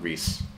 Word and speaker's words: Rhys: oh yeah no there's a guy named rhys who uh is supposed to be pronounced reese yeah r h by